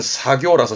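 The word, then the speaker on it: 作業: 그래서 농작업 발음은 노사교, 작업 발음은 사교라서 시험 때 자주 보입니다.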